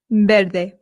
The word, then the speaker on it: verde: Now remember I told you that the V in Spain makes a light B sound ver. However, in Latin America it does make more of the English v sound. So if you want you can say ver.